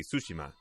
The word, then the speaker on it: Tsushima: i say that word it's going to be tsushima hey taldira uh thank you alex fabios dragon